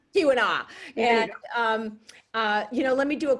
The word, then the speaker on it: Keweenaw: We have another reader who said that she had visited the copper mine in I never can pronounce the peninsula's name correctly. You'll have to correct me. Keweenaw. Keweenaw.